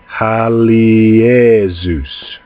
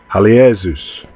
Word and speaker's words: Halios: This name, I'll pronounce it for you slowly, is pronounced Halios. Halios.